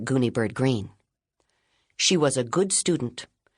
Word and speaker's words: Greene: My name is Gooni Bird Green. That's Green with a silent e at the end.